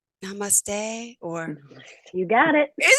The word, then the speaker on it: namaste: It's something like namaste, or you got it.